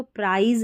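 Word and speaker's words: prize: कि ई जैसे प्रा हम इसको प्रिज नहीं पढ़ सकते अगर प्रिज पढ़ा होता तो यहां पर लास्ट में ई नहीं आता लेकिन ई है तो प्राइज इसका उच्चारण रहेगा फिर देखेंगे प्र और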